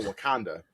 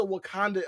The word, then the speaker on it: Wauconda: He was like, out in the middle of nowhere, of fucking Wakanda.